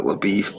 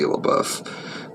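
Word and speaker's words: LaBoeuf: In this movie they pronounce it LaBeef, but I think it's actually supposed to be LaBeouf, but Jeff Bridges just pronounced his name wrong.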